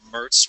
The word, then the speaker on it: MERTS: I'm a project manager for the Multi-Purpose Reconfigurable Training System, or MERTS, rhymes with Hertz, MERTS 3D system.